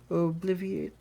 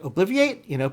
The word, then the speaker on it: Obliviate: So I was really expecting, it's okay, it's going to be like Obliviate, but no, they say Obliviate. They add another, the vowel sound, so there's another syllable there.